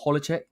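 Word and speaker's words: Hložek: I nearly butchered this guy's name before. It's Adam Hlozek.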